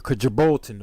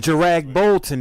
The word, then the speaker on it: Kjeragbolten: So we'll say like a Kajbolton or something like that. What? No, Kurdrag Bolton. We're not doing that on Jarag Bolton is what it say.